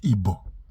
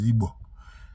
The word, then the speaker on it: Igbo: In that video, he even mentioned that there's a popular saying then that Igbo stand, that then the British call it Igbo, but the real pronunciation is Igbo.